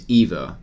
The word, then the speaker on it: Ivo: You pronounce my name as Evo. Okay, awesome. Dutch pronunciation is weird.